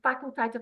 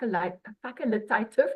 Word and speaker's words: facultative: a job as a facultative underwriter I didn't even know how to pronounce it I called it a fac facilitative underwriter I did not know